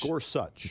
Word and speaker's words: Gorsuch: point is uh is it Gorsuch or Gorsuch Gorsuch thank you very much you are correct cuz that's the way pronounces it uh Clarence Thomas you know I